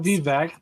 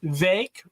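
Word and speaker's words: Vivek: we'll see what happens it's not vvec it's V rhymes with fake so you know if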